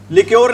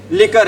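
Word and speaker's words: liquor: लिक्योर नहीं है, क्या भी ये लिकर है।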